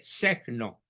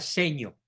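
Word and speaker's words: Segno: dicho en el pueblito de secno se pronuncia seño seño eh de influencia italiana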